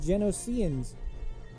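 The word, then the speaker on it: Geonosians: as the battle of droids the trandocians and genocians that's how you say it these are the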